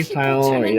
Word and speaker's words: Tighnari: Hi, honey, you say Tighnari, that's how you say it, I forgot.